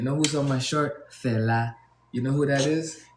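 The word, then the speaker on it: Fela: And you say it like Fella, right? F E L A, that's his name.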